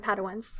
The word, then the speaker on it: Padawans: By the way, I think we need to start a trivia team called Pride and Padawans. Oh, yes, that was so cute. Done, yes. Did I pronounce that correctly?